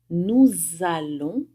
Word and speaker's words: nous allons: Chegando na primeira do plural com nous, eu vou fazer o que a gente chama de liaison. Eu vou pronunciar o S no final do nous como se fosse um Z. Nous allons, nós vamos.